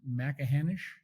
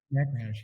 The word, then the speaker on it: Machrihanish: I guess you guys probably did eventually, but I believe it's pronounced Macahanish. Is that Macahanish? Yeah.